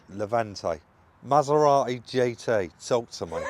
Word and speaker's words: Levante: Levante? Levante.